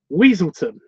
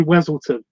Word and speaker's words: Weselton: you know they say they say weselton and he's like was like weasel turn it's weaselton don't get me killed Gary